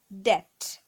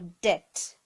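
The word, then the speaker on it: debt: syllable three chocolate chocolate third one is depth the be silent never pronounce the B it's never called a depth it's a depth next one is Plummer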